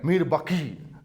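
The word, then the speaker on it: میر باقی: था मीर बाकी, राइट, मीर बाकी, ये क्यू आता है, that is Urdu pronunciation, and he built a mosaic near Ayodhya, right, and उसको उसने नाम दे दिया बाबरी मस्जिद।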